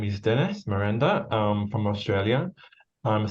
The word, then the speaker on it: Merenda: um and and joining me today is Dennis Miranda I hope I'm pronouncing that okay perfect yeah so Dennis is